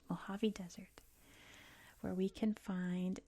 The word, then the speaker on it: Mojave: This is the Mojave Desert, which is how we say it. Mojave Desert, where we can find Death Valley.